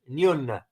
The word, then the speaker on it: Nguyen: Nguyen is spelled Nguyen. Nguyen. That's the pronunciation that I got by checking out some sources.